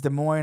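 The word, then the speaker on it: Des Moines: It's De Moine, Iowa.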